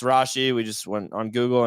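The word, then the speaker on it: Rashee: Rashi rice over five and a half receptions pronounced Rashi we just went on Google and confirm that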